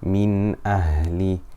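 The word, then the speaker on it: مِنْ أَهْلِ: So we pronounce the Noon clearly.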